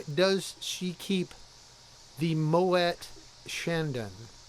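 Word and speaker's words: Chandon: she keep the Moet Shandon it's moay Mo Shandon I didn't it's French well I get that but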